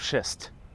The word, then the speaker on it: schist: But one thing that isn't a lie is this big pile of schist. Schist, get schist. Don't mispronounce that word. It's very close to another word.